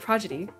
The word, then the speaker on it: progeny: that was interesting oh wait she said it wrong I didn't even notice you said I was a camping Pro Prague Kitty you know instead of progeny so special about that